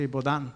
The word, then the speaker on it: Boudin: Su apellido se escribe Boudin, pero me imagino que se pronuncia Baudin.